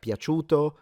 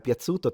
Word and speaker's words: piaciuto: there is, for instance, when in Italian the C is pronounced like a ch, like piaciuto, piace, piacere, 500, they pronounce it like a Z, like a ts sound. Or TS, if you will.